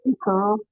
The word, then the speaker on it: Itoro: Cosgrave, please don't murder my name. It's pronounced Itoro.